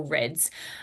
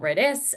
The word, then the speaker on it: REDS: sport comes in, or REDS. For those playing at home, it is REDS, not RED-S. There is no hyphen, and it is pronounced REDS.